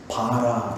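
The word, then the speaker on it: ברא: 요 모든 단어들이 뭐냐면 바라라는 거예요. 바라. 히브리 말로 바라거든요. 바라라는 말인데, 이렇게 쓰는 것은 이렇게 쓰는데요. 이건 뭐 중요한 건 아니에요. 두 글자인데 바라라고 읽어요.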